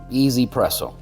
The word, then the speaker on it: 1Zpresso: easy presso k+ model easy they spell it with a one one is e in Chinese so easy presso okay but if you